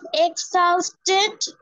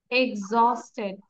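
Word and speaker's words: exhausted: মানে হচ্ছে carefully clear yes miss and means এক্সাউসেট which one এক্সারসাইড এটা this one no miss no miss না এটার উচ্চারণটা হচ্ছে এক্সস্টেড আমি এটাই এক্সস্টেড এক্সস্টেড ওয়ালাইকুম আসসালাম ক্লিয়ার ইয়েস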